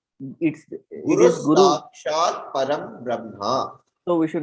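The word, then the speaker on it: परम् ब्रह्म: No, Param Brahma is the right way. Whatever is in the bracket. Param Brahma. Okay. Makara is there. That's what I have emphasized on this Okay. one. Okay. How the Anuswara is to be pronounced. So the Okay. Bindu, what you see as Anuswara here is to be pronounced as a Makara.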